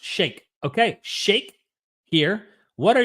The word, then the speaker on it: Shike: Dude, Shike, pronounced shake.